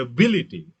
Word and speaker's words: ability: The ability, stress shifts to second syllable.